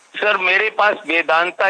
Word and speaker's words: Vedanta: आप प्रयागराज कहते हैं, वैसे ही वेदांता को अब हम वेदांत कहते हैं, क्योंकि वेदांता जो है ये इसका इंग्लिश एंग्लिसाइज प्रोनाउंसिएशन है। तो इसका मूल नाम जो हिंदी में संस्कृत में होना चाहिए वेदांत।